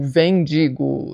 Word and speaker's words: Wendigo: E este ano nós lemos então o Wendigo, ou Vendigo, sei lá como é que você prefere pronunciar aqui. Eu chamo de Wendigo porque a gente acabou assistindo o episódio do Supernatural e essa é a pronúncia que eles usam.